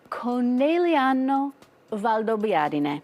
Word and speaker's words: Conegliano Valdobbiadene: Conegliano Valdobbiadene. So, Cone, Okay. Cone. Liano, Liano. Valdo, Valdo. Biadene. Biadene. Perfect.